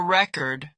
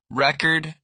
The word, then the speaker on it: record: I want to make a record when you mean to record something. The fix. Learn stress patterns. Record, noun, versus record, verb. Present, noun versus present, verb.